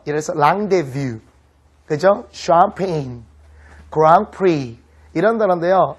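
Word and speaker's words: Grand Prix: 샴페인, 그랑프리 이런 단어인데요. 알파벳으로 써놓으면요 못 읽어요. 그랜드 프릭스 이렇게 읽습니다. 그게 이제 그랑프리거든요.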